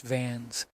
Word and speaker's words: Vance: A musician, Charlie Vance, pronounced Vans, plays sax with the house band.